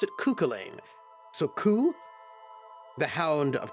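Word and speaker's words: Cú Chulainn: Cuchulainn? I always pronounce it Cuchulainn.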